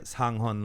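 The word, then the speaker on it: Sang Heon: Sang-hon.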